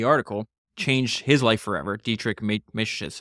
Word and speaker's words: Dietrich Mateschitz: Dietrich Mateschitz, I think is how you say his name.